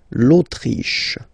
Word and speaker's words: Autriche: L'Autriche, okay, remember sh here. L'Autriche, l'Autriche, okay?